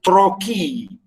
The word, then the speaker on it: trochee: and the noun is trochee. Trochaic, the adjective, and the noun is trochee, and trochee, it's pronounced.